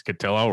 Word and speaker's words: Cotillo: that's that's huge uh you know it's catillo rhymes with pillow it's that's the easiest